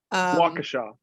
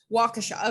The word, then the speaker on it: Waukesha: not going to pretend to be able to pronounce the town where it happened because i've only seen it written waukesha waukesha okay cool thank you um this is something